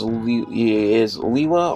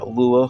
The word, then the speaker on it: Lewa: He is Lewa, or Lua, however you want to pronounce it. Spelled L-E-W-A.